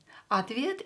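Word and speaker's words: ответ: pronounce is a question another word is Advia same here or will be pronounced as a because it's not stressed atvid is an answer at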